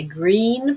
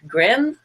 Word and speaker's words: green: e in it so if you know how to say green properly and not grim that's a big smile